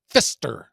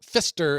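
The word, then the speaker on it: Pfister: Uh, they're spelled Fister is spelled P F I S T E R. And anytime I have learned anytime you use the letters P and F next to each other, that adds like another $200 to whatever it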